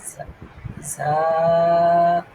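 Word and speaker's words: ز: জাল হ্যাঁ এবার আসেন র র র র ঝা জায়ের উচ্চারণটা আমি করতে পারি না হুজুরা খুব ভালোভাবে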